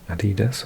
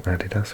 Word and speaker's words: Adidas: So, you can see it's by Adidas or Adidas, however you want to pronounce it.